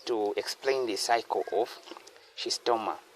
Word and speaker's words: Schistosoma: explain the cycle of she's stoma. So she sto this just how they pronounce it as she's stoma. She she's this becomes silent.